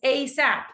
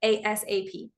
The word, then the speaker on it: ASAP: we also say ASAP we pronounce it like it's a word get me this document ASAP which is shorter it's two syllables ASAP instead of ASAP so sometimes with long